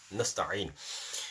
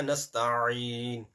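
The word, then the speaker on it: نستعين: So, Iyaka na'budu wa iyaka nasta'in. Ayn is very important. If you're not going to pronounce ayn, either there will be no letter or the ayn will be changed with hamza.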